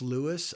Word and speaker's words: Luis: answer is no uh it is pronounced Lewis my dad was born